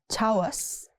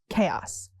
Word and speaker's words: chaos: Chaos. Not chawas. It's chaos. The house was in complete chaos.